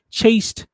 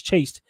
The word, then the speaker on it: chaste: these these Valiant extravagant chaste she's saying she's saying it wrong it's chased these chaste wives that you